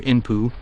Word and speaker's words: Inpu: the symbolism belonging to the god Anubis whose pronunciation and writing in Egyptian hieroglyphics is anpu or inpu note the similarity with